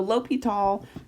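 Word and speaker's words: L'Hôpital: it's really cool so l'hopital is how you say that um and it is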